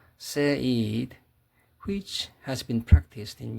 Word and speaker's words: Said: Another example of Eurocentrism is a specific form of othering called Orientalism, analyzed by Edward Said, pronounced Said, which has been practiced in Europe, Britain, and America.